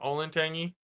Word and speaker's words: Olentangy: I know you're gonna think Vegas but sin is spelled c-i-n for Cincinnati so and then Ole Olin Olin Tangy Olin Tangy Olentangy this is in Columbus Ohio these are the